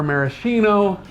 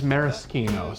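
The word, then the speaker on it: Maraschino: The cherries are marishino, but the leour is Marisino. So say it right, Marischino.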